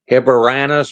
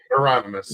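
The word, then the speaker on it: Heironimus: And Bob Hipporanus or Bob, I can't pronounce his last name. Hieronymus.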